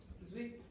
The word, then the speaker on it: sweet: Sweet. Yeah, exactly. Okay, so a lot of Italians, especially from the south of Italy, will start pronouncing s like z, okay? But it's not sweet, it's sweet.